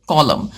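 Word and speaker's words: column: सो we will pronounce it कॉलम ऑन a tall कॉलम एक बुलंद सुतून पर stood the statue of अ ऑफ़ the happy Prince.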